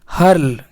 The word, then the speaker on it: hurl: देखिए दोस्तों, एच यू आर एल को हम लोग पढ़ेंगे हर्ल।